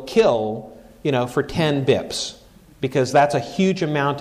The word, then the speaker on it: bps: and sometimes it's it's abbreviated bips BPS and pronounce bips one bip you can